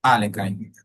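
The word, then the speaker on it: Alekhine: Eh, vale, la defensa a la defensa leing o del la pronunciación correcta sería la defensa Alenin.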